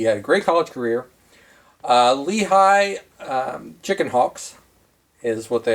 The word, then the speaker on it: Lehigh: Oh, I believe it's pronounced Lehigh.